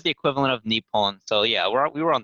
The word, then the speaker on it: Nippon: probably something to do with like the other pronunciation of japan's japanese name um which is nippon and then they probably took like some part